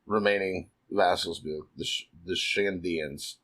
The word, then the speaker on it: Shandians: And then we see the 3 remaining vassals, the Shandians. I just want to assume the N is silent because Shadians rolls off a lot better. The N is not silent.